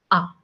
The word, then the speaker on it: A: So the pronunciation of alphabet A in French, it's like ah, ah, ah. Okay. Very soft, very subtle.